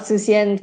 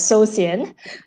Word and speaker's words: Susian: Usually people would call me Suli, not Susian, because it ends up being pronounced as Sosian, like so Oh, boring.